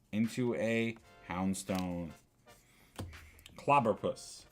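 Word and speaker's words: Clobbopus: We got a Clobopus, Into a Houndstone. Clobberpuss is how you say that.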